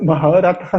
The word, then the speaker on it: Maharatha: Ele era o que se chamava de deixa eu pronunciar certo, porque dependendo da pronúncia o significado muda. Ele era um Maharatha. Falei certo. Porque se eu falasse Maharatha seria outra coisa.